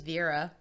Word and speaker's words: Vera: Now, a ring and a watch was found on the human remains, and Verna, remember Dorothy's mom, said that the watch... You're saying Verna. Her name's Vera, like Vera Bradley.